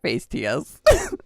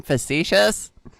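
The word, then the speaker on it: facetious: I did used to call it face TS before like somebody was like you mean facicious and I'm like yes facicious that is the right way to say that word I've definitely not been mispronouncing it this whole time physicious.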